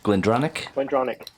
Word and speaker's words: Glendronach: Glendronach.